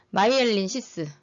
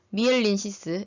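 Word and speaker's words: myelin sheath: 마이엘린시스 아니면 미엘린시스 이렇게 발음합니다.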